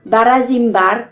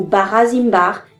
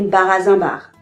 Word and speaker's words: Barazinbar: Ainsi, on dira Barazimbar ou Barazimbar et non Barazimbar.